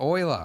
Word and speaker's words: Euler: but you're dead, so Euler is. I'm going with Euler. It makes more sense to me. It's got an E and a U and an L and an ER. Euler. No, Euler. Euler.